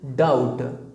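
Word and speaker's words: doubt: एंड the last word is डाउट। अब इसमें ये जो लेटर है बी, ये साइलेंट लेटर है।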